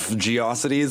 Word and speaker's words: GeoCities: It existed, but it was like, porn and I don't know what, a bunch of Geocities websites. It's pronounced GeoCities, and it's pronounced memes, not Mimi.